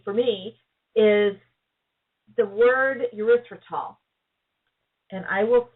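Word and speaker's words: erythritol: years or three for me is the word urethral and I will spell it for you because it's hard e y t h r i t o l uriol it's another polyal it also comes from plant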